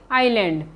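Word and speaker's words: Island: पर साइलेंट होता है अगर किसी स्पेलिंग में एस दो लेटर्स आई और ल के बीच में आता है तो वहां पर एस का उच्चारण नहीं किया जाता है जैसे आयरलैंड आई एस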